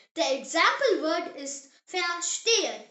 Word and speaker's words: verstehen: In German, V is actually pronounced like the English letter F.